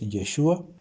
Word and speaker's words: Yeshua: Ya sé que hay personas que lo pronuncian diferente, que dicen Yeshua. Yo ahí veo una E, entonces para mí es Yeshua.